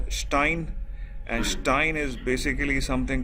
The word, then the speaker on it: Stein: Like similarly, Stein is pronounced as Stein, and Stein is basically something called stone.